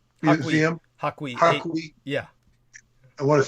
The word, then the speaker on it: Hakui: And that goes into the, how do you say, the Haiku Museum? Hakui.